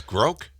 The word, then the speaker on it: grok: Pronounced like broke. Oh, it's groke. It is? Really? Is a reference to the novel Stranger in a Strange Land.